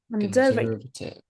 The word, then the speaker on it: conservative: So you use word Conservative. conservative. Okay, it stress on the second syllable.